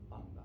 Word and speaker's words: Anda: Yo soy De anda. De anda. Oh, so it's anda as I see it. Mhm. Yeah, that's the thing. Literally, it's exactly the way it's spelled.